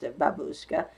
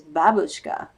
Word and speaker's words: babushka: babushka i was pronounced babushka but she says the original is babushka with emphasis on that first syllable that's sort of fun